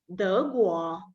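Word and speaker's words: 德国: Germany pronounced as a De Guo.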